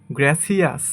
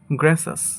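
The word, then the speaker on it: gracious: এরপরে এই ওয়ার্ডটাকে আমরা বলে থাকি গ্র্যাসিয়াস। গ্র্যাসিয়াস সঠিক উচ্চারণ হবে গ্র্যাসাস। গ্র্যাসাস, গ্র্যাসাস। এরপর এটাকে আমরা বলি প্রিসিয়াস, বাট এটা সঠিক উচ্চারণ হবে প্রিশাস।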